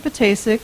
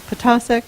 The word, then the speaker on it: Ptacek: in the process like most importantly how to pronounce mr. Pettis ex name it is not mr. Pettis ik like basic it is picasa like taco that's one of the first things